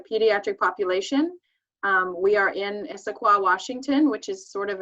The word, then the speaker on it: Issaquah: bit more about what she does um so issaquah washington is that how i pronounce it is that your area yes okay